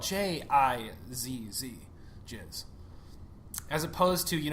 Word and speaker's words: jizz: you spell it just to make sure we're pronouncing it for our listeners out there that spelled J i ZZ jizz as opposed to you don't want to